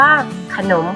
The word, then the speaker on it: ขนม: ขนม นั่น เอง ค่ะ คำ ว่า ขนม เป็น คำ ที่ ไม่ ประวิสรรชนีย์ เพราะ คำ นี้ ไม่ มี รูป สะอาด ปรากฏ ที่ เรา เห็น แต่ เวลา เรา อ่าน ออก เสียง เรา ก็ จะ อ่าน ออก เสียง อ่ะ เครื่อง เสียง เรา อ่าน คำ นี้ ว่า ขนม ค่ะ ถ้า ไป สังเกต อีก